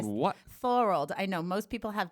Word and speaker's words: Thorold: So my city is called Thorold. It's Called just what? Thorold. I know most people have difficulties pronouncing it, but It sounds like a typo.